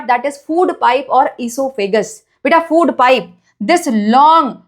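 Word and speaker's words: oesophagus: Spelling पे ध्यान दो। ओ से स्टार्ट हो रहा है। ई से स्टार्ट नहीं हो रहा। ओ साइलेंट है नाम पे।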